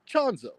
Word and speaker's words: Chanzo: Yeah, just think of it. It rhymes with Gonzo. Chanzo.